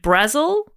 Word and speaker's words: Brazil: God Fraser green Jared brazzil and uh it's it's Jared brazzil written like Brazil but Jared says pronounced like Razzle but with a B in front oh my God Jared